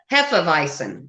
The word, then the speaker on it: Hefeweizen: flies but the the the W is a V with a hard thing there yeah well listen Hefeweizen am I saying it